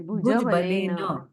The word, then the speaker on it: भुजबलेन: भुजबलेन ऐसा नहीं है, भुजबलेन। भुजबलेन। अच्छा, भुजबलेन अर्जिता। हाँ, थोड़ा आपको प्रयत्न करना होगा सबको, ना कि आप अकेले को, सबको प्रयत्न करना है, तभी हम भुजबलेन ऐसा उच्चारण कर सकते हैं।